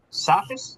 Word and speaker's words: Sakis: And Sakis. Is that how it's pronounced? Yeah. Good morning. It's last name sax phonetically like saxophone.